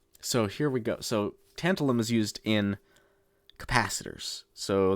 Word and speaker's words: tantalum: Let me make sure I'm saying these right. Tantalum. Tantalum. I said that correctly. Okay. It is... excellent. So here we go. So tantalum is used in capacitors.